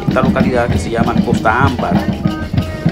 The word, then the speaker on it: Costa Ámbar: Valga la redundancia, pues se trata de esta localidad que se llama Costa Ámbar. Y normalmente se conoce con una palabra más rápida cuando se pronuncia por algún lugareño, que le llaman ellos Cotamba, pero que en realidad, si rompemos bien y